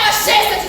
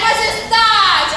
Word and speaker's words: majestade: Mas onde está a sílaba tônica? Você é burra? O que é? Maqueta. Não é majesta de soluço. É majestade, assim como majestade.